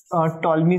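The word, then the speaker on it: Ptolemy: theorem को यूज करेंगे टॉलमी theorem में पी साइलेंट होता है टॉलमी थ्योरम बहुत ही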